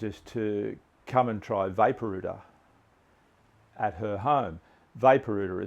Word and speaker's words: Vaporooter: them about this product that I had called Vapor UTA and they were quite interested and they did